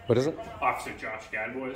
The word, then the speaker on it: Gadbois: Officer Josh Gadboys. How do you spell that?